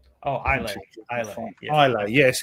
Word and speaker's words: Islay: Oh, Islay. Islay. Yeah. Islay. Yes, it's the S is silent like the P in Bath.